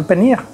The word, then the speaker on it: paneer: Pour faire un plat à la base de panir, il faut connaître faire le panir même. Ça s'écrit P-A-N-E-E-R, panir.